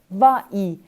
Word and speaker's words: vas-y: réponse c'est vas y mais en français s'il y a deux voyelles côte à côte c'est difficile de prononcer à c'est une voyelle y cette semi voyelles donc c'est difficile de prononcer c'est pour cela que nous ajoutons un s à la fin de va donc la réponse correcte